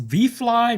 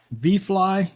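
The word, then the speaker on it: ViFly: Now, this is from our friends over at, I guess it's pronounced V-Fly, V-I-F-L-Y, V-Fly. You guys can see that?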